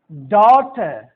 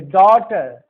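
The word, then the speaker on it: daughter: GH is usually silent, GH जो है so usually silent रहता है आफ्टर a vowel sound, vowel sound के बाद, वॉवेल साउंड के बाद। जैसे डॉटर, डॉ, औ वोवेल साउंड है। डॉटर, नाइट, इसके पहले वोवेल साउंड है।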